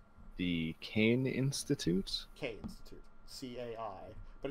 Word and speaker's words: Caine: K Institute. C-A-I. But it's pronounced, yes. K Like, it's not like Kai, it's pronounced K.